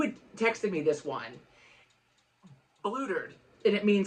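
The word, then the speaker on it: blootered: If I'm saying it correctly, they said blutered. That's what they said. Blutered. Not blottered. It was blutered.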